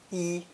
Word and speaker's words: 一: In each of these phrases, the number 1 is pronounced with the fourth tone, yi.